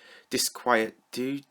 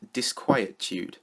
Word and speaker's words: disquietude: we're here to talk about exasperation version 3 disquiet do disquietude what do these words mean anyway okay so apparently it's pronounced disquietude and it means a state of uneasiness or